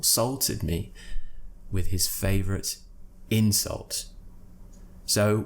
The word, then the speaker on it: insult: me with his favorite insult so we're stressing different syllables insult insults nothing changes in this word the only thing that changes is the stress on which syllable insult noun insult verb similarly increase and increase